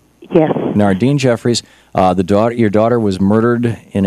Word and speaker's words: Nardyne Jeffries: Am I pronouncing that right? Yes. Nardyne Jeffries.